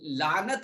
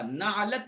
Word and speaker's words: لعنت: اور لعنت ہوتا نعلت نہیں ہوتا، بعض لوگ اس کو غلط تلفظ کرتے ہیں، نعلت کہتے ہیں لعنت.